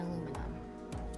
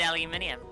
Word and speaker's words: aluminium: of iron oxide and aluminum this is a substance that has a thermite reaction what was that carry i said aluminium how it's pronounced so true i just